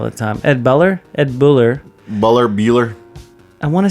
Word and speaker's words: Buller: Ed Boer all the time Ed buler Ed Buller buler berer I want to say that they would say Buller Ed Buller it's spelled it's spelled ber is it ber with